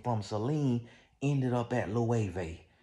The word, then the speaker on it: Loewe: And from Celine, ended up at Loewe, which I used to pronounce Lowe's, Loewe's.